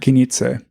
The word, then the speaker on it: Knize: Wait, what was the pronunciation you were using earlier? Knize.